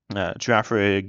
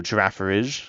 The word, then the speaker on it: Girafarig: Girafarig and no Girafarige. What it seems like the beginning and end should be pronounced the same, and then for a giraffe, both.